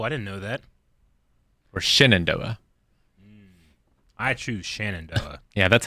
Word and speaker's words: Shenandoah: An Amish beard, also known as the Shenandoah, is a style of facial hair with the